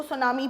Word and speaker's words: tsunami: इसके अंदर टी है वो साइलेंट होता है, तो हम इसको सुनामी पढ़ते हैं।